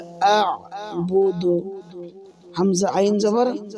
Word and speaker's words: أعبد: লা আ'বুদু হামজা আইন জবর আ, প্রথমে হামজা উচ্চারণ হবে, আর আইন গলার ভিতর থেকে চাপ দিয়ে উচ্চারণ হবে। লা আ'বুদু মা মা এক আলিফ